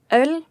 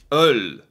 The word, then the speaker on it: øl: How do you pronounce this O? Ul? Ol? Öl. Öl.